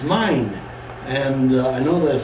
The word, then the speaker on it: Mayan: The reason I say quote, Mayan, quote, because that is not the correct pronunciation, it's mine.